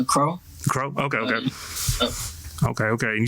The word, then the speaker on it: Qro: Yeah, my name's actually pronounced Crow.